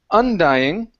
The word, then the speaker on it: undying: So, our stress is on the is on the end of the word. Instead of undying, it's undying. Undying. Good.